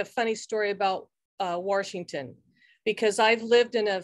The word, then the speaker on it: Washington: to add that coach there's no r in washington right yeah coach rankin